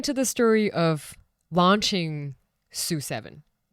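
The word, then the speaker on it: SU7: Sue 7.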